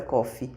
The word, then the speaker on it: Coffey: Porque ele fala que se fala igual o café, mas não se escreve igual o café, então é Coffey.